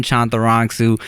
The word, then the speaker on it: Chantarangsu: is my just long-ass Thai last name, Tim Chantarangsu. I retired the De La Ghetto like a year and a half ago, so now it's just Tim Chantarangsu.